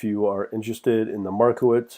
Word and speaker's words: Markowitz: can get expected return these different techniques using Markowitz and minimum k-member but anyways I want to